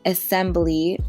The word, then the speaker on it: Esembly: Currently, Assembly, which is spelled ESEMBLY, is offering 15% off your first order.